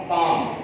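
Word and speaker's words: palm: तो यहाँ पर जब F से पहले L हो या N से पहले L हो तो L अपनी साउंड को साइलेंट रखता है, काफ, हाफ, हाफ, पाम, पाम।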